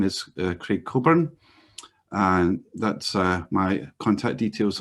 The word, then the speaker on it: Coburn: Just to introduce myself, my name is Craig Coburn, and that's my contact details on the first slide there. My surname is Coburn, same pronunciation as Alistair, who wrote the Agile Manifesto co-author.